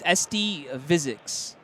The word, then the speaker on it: SD Physics: It's SD Physics. He says it rhymes with physics.